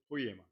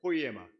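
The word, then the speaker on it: ποίημα: 포이에마 한번 같이 한번 해 볼게요. 포이에마.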